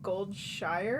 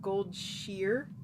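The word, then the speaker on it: Goldshire: apparently it's not pronounced gold Shire it's pronounced gold sheer like the correct pronunciation so I've heard but everybody pronounces it wrong so everybody but apparently it's supposed to be sheer not Shire a metaphor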